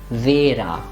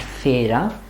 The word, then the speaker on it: Vera: This one, the pronunciation is going to be Vera and not Fera, because it's not originally a German name.